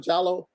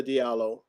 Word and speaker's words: Diallo: But and the reason I'm saying that, Brother Diallo, you pronounce it instead of Jallo, or Brother Diallo, is because when you